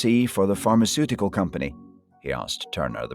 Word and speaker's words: pharmaceutical: And Diego and his team are implementing one at a pharmaceutical company. Now, just be careful with the pronunciation of this word pharmaceutical. Don't be tempted to pronounce it phonetically.